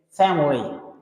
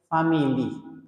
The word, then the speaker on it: family: Check family, 2 syllables. Don't say family.